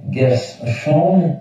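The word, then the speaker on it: Guerschon: c'est G ch et prononcer bien G chum et G U E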